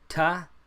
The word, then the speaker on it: ت: top just same thing the tongue behind the teeth tah tah tah there's no pop there's no special quality about this letter just a regular tea so those are our